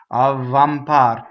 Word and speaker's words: avvampar: Neither does double B. Avvampar. You just go V for just a millisecond. Avvampar. You see? Not avvampar. Don't stop phonation. It sounds funny.